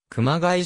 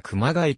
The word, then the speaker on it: 熊谷: られる頻度も高い熊谷の発音に関して主に平らな発音んと間にアクセントをつける発音の 2 種類が混在しているこの件に対し 2019 年当時の富岡清市長は平らに発音するのは以前からの地元での鍵を間にアクセントをつけるのは共通語的現在の市民にはどちらも自然に受け入れられて